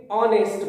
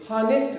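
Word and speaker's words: honest: ध्यान रखेंगे, ऑनेस्ट बोलेंगे, हानेस्ट नहीं बोलते हैं, यहां एच साइलेंट होता है, तो इसका ध्यान रखेंगे।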